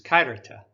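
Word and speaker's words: χαίρετε: of our knowledge is kairita the p is actually pronounced as an r the x is uh k sound but like most people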